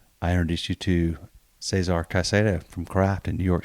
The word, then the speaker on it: Caicedo: And then when you have two C's in the same word, they both sounds like C, like Caicedo.